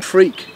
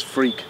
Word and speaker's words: Freke: And but I am Freak. It's how it's pronounced in England. It's Freak.